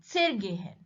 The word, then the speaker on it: zergehen: Where is the stress on gehen? When we say zergehen, there is no stress. Zer comes suddenly and then followed by the gehen. So stress is on the verb gehen, zergehen.